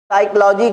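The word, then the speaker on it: psychology: समय है बताइए क्या साइकोलॉजी क्यों भाई देखिए नॉक में के साइलेंट रंग में डब्लू साइलेंट साइकोलॉजी में पी साइलेंट लेकिन फास्ट में कोई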